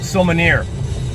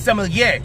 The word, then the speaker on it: sommelier: When he says sommelier, he says sommelier. You dumb motherfucker. Where's the camera? Okay, you dumb motherfucker, it's sommelier.